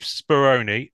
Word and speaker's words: Speroni: Anyway, Speroni. Am I pronouncing that correctly for a start?